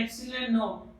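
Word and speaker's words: epsilon naught: इसको बार बार बच्चों में क्या बोल रहा हूँ, ये जो है ये है एप्सिलॉन नॉट, एप्सिलॉन नॉट NaUGHT, ये है इसका प्रोनाउंसिएशन एप्सिलॉन नॉट।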